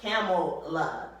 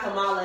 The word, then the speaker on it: Kamala: It's not pronounced either way because it's actually it's an Eastern Indian name, so it's like Kamala. You know, it's not Kamala at all.